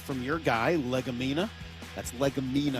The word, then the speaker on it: Legumina: That's Legumina. Legumina. Let's make sure we pronounce that right.